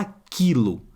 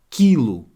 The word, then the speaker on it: aquilo: gente já sabe ó fala aquilo aquilo eu não escuto o som daquele esse que eu juntos aqui ó tem sons do que de cá não é som da letra k agora muito cuidado porque